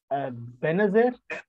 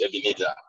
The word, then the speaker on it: Ebenezer: last question uh sorry for my pronunciation uh pronunciation benezette yes my name is ebenezer okay yeah so my my question has to